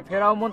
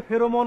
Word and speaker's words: ফেরোমন: দেখি আমরা আগে কও এই ফেরাউমন ফাঁদটা আসলে কি এর উচ্চারণ হচ্ছে ফেরোমন ফাঁদ সহজ কথায় বলতে গেলে